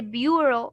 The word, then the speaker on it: bureau: Here you would say bureau, although there's no o aslan in the whole word.